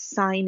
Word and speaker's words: sine: We don't pronounce this as sin, it's sine of x, okay?